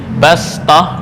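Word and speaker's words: بَسْطَةً: Ya, bastah di sini ditulis dengan shad, ya, tapi cara membacanya adalah sin, lebih utama.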